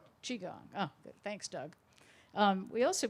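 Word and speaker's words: Qigong: that I can't pronounce its spelled Qi gon G Doug Elliot board member could you help me translate that I think it's chi gong chi gong oh thanks Doug we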